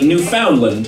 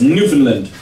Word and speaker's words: Newfoundland: map it looks like Newfoundland. And they're like, no, it's Newfoundland, because we pronounce words as quickly as possible there.